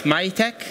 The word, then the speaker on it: MAHYTEC: It's in French, pronounce MAHYTEC. But it can be anything you like, yeah.